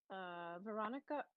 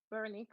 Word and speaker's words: Veronique: Veronica. Oh, sorry. Veronique. Sorry, I read your name wrong.